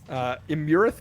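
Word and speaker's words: Iymrith: Imurith, maybe? I'm going to pronounce it Imrith because that's how King Hecaton pronounces it.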